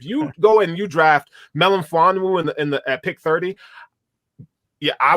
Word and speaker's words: Melifonwu: Talk about pronunciation, by the way. I'm not even going to try it. Melifonwu, you got it. Melifonwu.